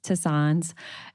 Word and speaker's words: tisanes: And so, these are the ones that herbal tea, herbal infusions, um as Mimsy let me know it's pronounced tisanes.